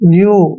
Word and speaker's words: view: देखिए W का उच्चारण, EW का उच्चारण क्या करेंगे हम? व्यू, यानी कि यू करेंगे, व्यू।